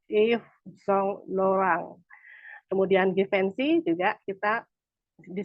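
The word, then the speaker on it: Yves Saint Laurent: bahasa Prancisnya itu dioh kemudian kalau YSL kita bacanya dalam bahasa Prancis itu if song lorang kemudian gensi juga kita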